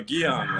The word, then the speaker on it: Guion: Guion, like neon, but with a G.